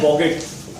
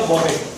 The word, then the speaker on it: bougette: देखो बजट जो है एक फ्रेंच वर्ड है बॉगेट, फ्रेंच वर्ड है ये, इससे डिराइव्ड है बॉगेट, ठीक है।